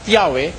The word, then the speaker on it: Yahweh: Diyos eh pino-pronounce na Yahwe. Sabi nila eh while it is almost if not quite certain that the name was originally pronounced Yahwe this sabi nitong mga